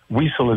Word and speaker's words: Wiesel: So Eli Wiesel, I think I said it right. Wiesel is right.